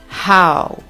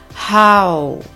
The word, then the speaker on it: how: How. Attention à la prononciation du H en anglais. On souffle comme un chien qui a trop chaud. Ha. Et ce mot se prononce en 2 temps. How.